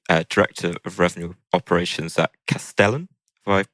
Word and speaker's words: Castellan: And this week, we're joined by Michael Boardman, who is the Director of Revenue Operations at Castellan. Have I pronounced that correctly? Castellan, yep, Castellan.